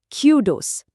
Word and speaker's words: kudos: जैसे कूल में ऊ होता है ना, वैसा साउंड। और दूसरा हिस्सा है डोज़। जैसे पॉट में ओ होता है और स्ट्रेस यानी जोर पहले हिस्से पर है क्यू पर।